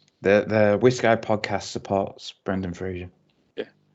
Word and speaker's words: Fraser: Yeah, it's Fraser with the Scottish pronunciation. He did say on a thing recently that everyone pronounces it as Fraser and gets it wrong. So you're right. I apologise, Brendan Fraser. It's because it's a Scottish name, right? And it's only in Scotland that it's pronounced Fraser. Yes, I apologise, Brendan, and